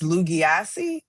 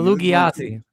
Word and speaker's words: Lugia: How do you pronounce that? I believe it's Lugia. Oh, Lugia. I it all up.